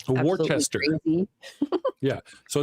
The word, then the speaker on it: Worcester: See, it's pronounced Worcester, but it's really fucked up.